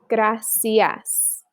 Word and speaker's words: gracias: So CE and CI in Spanish is always going to sound like an S. C and C. Celebrar, gracias.